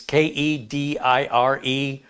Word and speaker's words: Kediers: It's Kedire, and they spell it with an S.